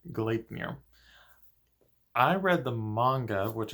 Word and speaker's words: Gleipnir: Funimation called collinear I was actually calling it glide near for a while because I didn't really know how to pronounce it it was just word and I